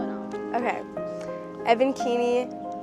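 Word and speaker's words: Evan Keeney: And then can you say your name and spell it out? Okay. Evan Keiny.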